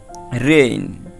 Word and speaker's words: reign: তারপর দেখো রেইন, REIGN, রেইন, দেখো রেইন এরকমের আইন শেষে উচ্চারিত হয়।